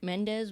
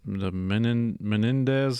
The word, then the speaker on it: Menendez: just slaughtered them apparently was it mendez was that his last name menendez is like an extra syllable i think so and